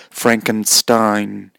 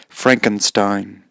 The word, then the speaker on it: Frankenstein: monster that's a tea be careful the English pronunciation is Frankenstein Frankenstein Frankenstein not Stein but Stein self-help guide if